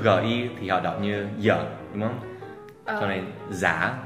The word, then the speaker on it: giờ: Chữ giờ cũng thế đúng không? Là giờ.